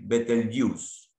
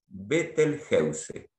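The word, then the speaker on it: Betelgeuse: Generalmente de habla inglesa escuchamos erróneamente decir better Wheels y no es así la verdadera pronunciación de este término lo pueden buscar ustedes en googlearlo es vettelgeuse O sea que better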